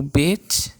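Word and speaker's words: בּ: O bit e o vet é a mesma jeito de se escrever, só que as duas são uma com ponto e outra sem ponto. E o ponto ele diferencia no quê? Na pronúncia. Se for com vet, com ponto é B, sem ponto é V.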